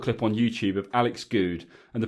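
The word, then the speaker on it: Goode: He says, there's a BT Sport clip on YouTube of Alex Good, and the pronunciation of his name comes up at the start. It's good, not good, like Andy Good.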